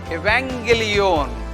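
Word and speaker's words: εὐαγγέλιον: If two gammas come together, you have to pronounce like N sound, ing, N sound. Angelos, angelos. Angelos means messenger or angel. Evangelion, Evangelion. So these are two gammas, sounds like N.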